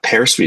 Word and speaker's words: Pear Suite: Yeah, Pear Suite is PEAR, like the fruit, and sweet.